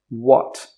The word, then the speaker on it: what: Most people in 2020, not all, but most people will say what. So that WH sound is just a w sound, w.